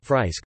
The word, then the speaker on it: Friesk: Frisian, or simply Frisian Friesk, pronounced Fries-K, Dutch, Fries, is a